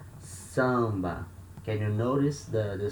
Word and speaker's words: samba: kind of musical genre so here we have letter a or litra before letter m so and in there they are at the same syllable so letter a here we have the nasal sound ah samba can you notice the